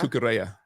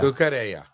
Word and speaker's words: Cucurella: It's always under his feet, Pronounce wasn't his it? name again for me. Luke Shaw. Cucurella. Cucurella. Cucurella. Gracias. I think it's the L's are a yeah. Cucurella.